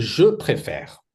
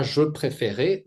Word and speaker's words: préfère: Ici c'est mué et je préfère pas je préférer.